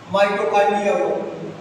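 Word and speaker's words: mitochondria: है जैसे एपल ख माइटोकांड्रिया माइटो कांड बा ऐसे उच्चारण अपने हिंदी में आय इंग्लिश में बोलते है लेकिन इसको लिखते है चाय सीओ ठीक है लिखने का कुछ और है बोलने का कुछ अलग अंदाज है माइटोकांड्रिया हुआ गाल काय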